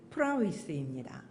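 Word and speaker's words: πραΰς: 이것은 바로 지난주에 말씀드린 프라위스입니다. 29節にも入話が出てくるんですけど、これは先週申し上げたプライスです。 뭐 이게 발음 기호는 프라우스인데요. 그 정확하게는 위스에 가깝습니다. 그래서 제가 프라위스라고 말씀드리는 겁니다.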